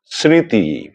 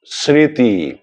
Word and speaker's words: স্মৃতি: নাসিক্য প্রভাবিত উচ্চারণ হবে, অর্থাৎ একটুখানি নাকি স্বরে উচ্চারণ করতে হবে। আমি কটি শব্দ বলছি, আপনারা লক্ষ্য করুন। যেমন ধরুন, স্মরণ, স্মৃতি, স্মারক, স্মর্তব্য, স্মরণীয় ইত্যাদি।